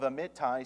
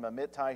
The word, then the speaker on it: Amittai: Now the word of the Lord came unto Jonah the son of Amittai, saying, Arise, go to Nineveh, that great city, and cry against it, for their wickedness is come up before me.